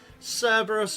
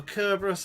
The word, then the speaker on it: Cerberus: the first place by Cerberus or kerberus however you want to pronounce it as some kind of